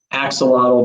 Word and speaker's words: Axolotl: as the chief science officer for can you pronounce that for me dr keller axolotl biologics thank you axolotl biologics and the chief